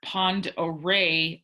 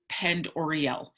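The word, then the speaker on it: Pend Oreille: out in uh lake pond array also notice we discussed this at the beginning of the week that in the passage lake pond array looks like lake pend oreo remember do not mark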